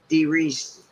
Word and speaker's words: DeReese: i'm going to bring on my mo muscle d reese did i pronounce that right man yes sir all right